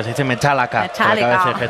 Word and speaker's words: Metallica: de 2 horas de Metallica. Yo creo que ni un concierto de Metallica dura menos de 2 horas, pero ha sido realmente emocionante, ¿eh? No se dice Metallica, se dice Metallica.